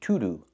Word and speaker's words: to-do: I cannot say to-do. I have to say to-do, to-do. The to is pronounced with a short sound like cup and up.